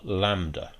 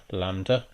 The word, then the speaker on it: lambda: trough, and that is given the Greek symbol lambda, pronounced like that, lambda.